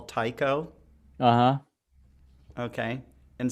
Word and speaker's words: Tycho: Astronomer that they often call Tycho. Uh-huh. Okay, and some people say no, no, no, it's not pronounced Tycho. It's pronounced Tico.